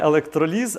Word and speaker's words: електроліз: Електроліз. Короче, там на не електроліз, а електроліз.